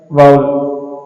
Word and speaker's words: vowel: इसको क्या लिखेंगे? लिखेंगे तो ऐसा ही VOWEL, और बोलेंगे क्या, इसकी प्रोनाउंसिएशन क्या है, वो क्या है? वाउल।